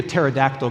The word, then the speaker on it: pterodactyl: can't you hear the pterodactyl going to the bathroom think about how they spell pterodactyl yeah how do you spell pterodactyl yeah the p is silent that's how you spell